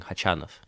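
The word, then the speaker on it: Khachanov: off but I'm saying chi-chan off Tran off yeah I'm pretty sure the stress on the second syllable I mean it's it's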